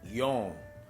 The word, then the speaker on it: yon: Eles também pronunciam como yon.